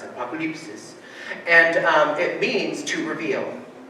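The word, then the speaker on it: ἀποκάλυψις: It's a Greek word. It's Greek in origin. Apokalypsis is how you kind of pronounce it. Apokalypsis.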